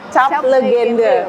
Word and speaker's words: Tjap Legende: Oke, ini tuh emang pengucapannya tuh Cap Legenda ya? Ya, Cap Legenda. Bukan legend.